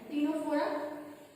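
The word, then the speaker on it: Ctenophora: Okay, then third है टिनोफोरा, इसमें सी silent है, टिनोफोरा।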